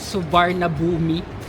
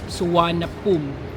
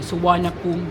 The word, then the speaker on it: Suvarnabhumi: kung Babasahin mo yung spelling niung airport is suvarna bumi Pero sabi n mga locals It's suana pum so yun yung pronunciation niya suan pum International Airport so dalawa rin yyung main airports